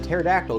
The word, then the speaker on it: pterodactyl: myself Mr no no do you know why you can't hear the pterodactyl go to the bathroom cuz the p is silent the p is